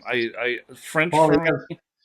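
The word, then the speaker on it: Poilievre: I don't think there's even an R sound at the end of it.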